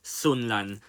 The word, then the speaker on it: Sunderland: So, in 18th place, and the team for me that will only just go down will be, as the locals say, Sunland.